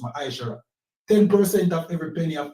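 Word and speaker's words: מעשר: Means 10 in the Hebrew and it's pronounced Ma'aishara.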